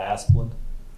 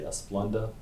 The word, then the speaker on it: Asplundh: I call it Asplundh. Asplundh. Some people will try to say Asplunda, but I call it Asplundh.